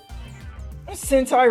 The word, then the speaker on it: Sentai: Sentai rhymes with hentai, Kappa.